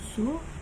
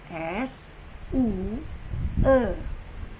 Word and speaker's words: Zhu: Zhu dibaca Su dalam bahasa Inggris, tapi kalau bahasa Indonesia ejaannya S-U-E. Nah, dibacanya itu adalah Su, bukan Sue ya.